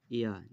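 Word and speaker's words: ياء: এখানে বলা আছে যে জিভের মাঝখান এবং তার বরাবর উপরের তালুর সাথে লাগিয়ে উচ্চারিত হয় জিম, শিন, ইয়া।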